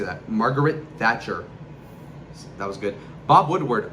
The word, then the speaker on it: Thatcher: Margaret Thratch. Margaret That, how do you say that? Margaret Thatcher.